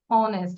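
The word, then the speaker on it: honest: যেরকম অনেস্ট, আমরা কিন্তু হনেস্ট বলি না, হনেস্ট বলি, এইচটা সাইলেন্ট থাকে, তাহলে অ্যান অনেস্ট, তাহলে উচ্চারণটা অ হচ্ছে, অ, অটা ভাওয়েল।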